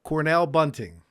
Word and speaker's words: Cornell Bunting: Cornell Bunting. Yes. Am I pronouncing that correct?